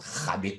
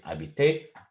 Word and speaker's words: habiter: Also, you probably noticed that habiter I pronounce without any h sound because it's not habiter, it's habiter. H in French is silent.